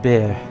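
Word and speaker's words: Boer: of the be what pronounced beer always pronounced beer I think the correct pronunciation people say B but it's actually more like beer Army had taken us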